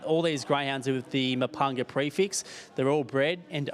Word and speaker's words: Mepunga: Do you reckon they'll get the message over in NZ and other parts of Australia that it's Mepunga, not Mepunga? Is that how they pronounce it? Yeah. Mepunga.